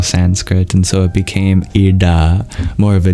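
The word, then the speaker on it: इळा: The oldest example is a form of the divine called Ida. Ida is spelled in two different ways, because in Vedic Sanskrit it was a kind of L sound, but you curl your tongue back.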